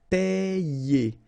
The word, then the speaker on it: payer: combine these letters, sorry, and you get the sound Y, okay? Payer, payer.